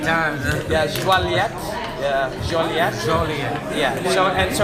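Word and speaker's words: Joliette: We've We been don't walk pronouncing around. it completely wrong. They don't even know where I it said is. Juliet like 8 times. Yeah, Joliet.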